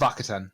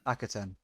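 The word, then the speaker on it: Akhaten: Rings of Akaten. Akaten.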